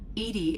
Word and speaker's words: EDI: is a jar why are you named edie edie is the phonetic pronunciation of edi that is an acronym for